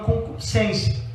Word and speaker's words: concupiscência: de que há uma concupiscência. Essa palavra, irmãos, muita gente não sabe o que significa, né? Às vezes o povo pronuncia errado, né? Concupiscência, né? Coloca um i aqui, mas no texto grego,